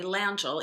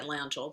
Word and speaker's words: Langille: well um actually bernie langell you can say you can pronounce atlanta or langell but they the landfills themselves go by langhold they're um english-speaking family